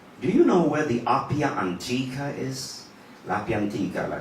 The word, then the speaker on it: Appia Antica: Is that how you pronounce it? Yeah, the Appia Antica.